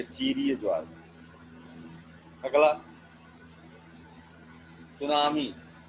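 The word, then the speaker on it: tsunami: अगला सुनामी। टी लगा होता है लेकिन साइलेंट होता है, आखिर लगाया ही क्यों, तो साइलेंट ही रखना है बेचारे को।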